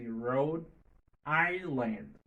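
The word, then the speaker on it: Rhode Island: Oklahoma Oklahoma Oregon Oregon Pennsylvania Pennsylvania Roh Island Roh Island OK Road Island c'est pas Island I S L A N B comme Island OK Island Road Roh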